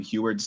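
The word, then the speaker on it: Huard: so i will say i've been watching sam huert's tapes did i say it right that time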